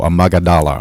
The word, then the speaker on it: amygdala: The word amygdala, it's not it's pronounced an O, amygdala.